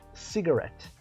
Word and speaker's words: cigarette: Então, a pronúncia dele fica cigarette.